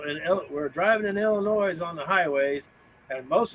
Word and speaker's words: Illinois: from to Midwest Bell the S is silent Illinois Illinois what's up with that